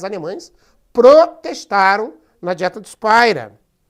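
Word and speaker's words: Speyer: Aí nós temos a dieta de Spira, essa pronúncia Spira realmente, não é Spira, é Spira, em 1529.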